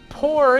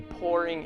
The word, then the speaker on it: pour: adjective this action p-o-u-r it's pronounced the same way i am pouring in the uh vegetable